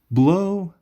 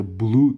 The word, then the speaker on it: blow: Blow the whistle. Blow the whistle. Blow. Blow. blow دوستایی blue تلفظ نکنین blow the whistle on